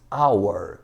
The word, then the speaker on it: hour: Mas na pronúncia, este H aqui é eliminado. Então, pronunciamos our, som de vogal.